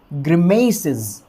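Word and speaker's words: grimaces: Pronunciation क्या होगा फिर, ग्रिमेसिस, ग्रिमेसिस, ग्रिमेसिस, ग्रिमेसिस। अब यहाँ पर जो है अपने को स्ट्रेस कहाँ देना है, म वाली साउंड के ऊपर।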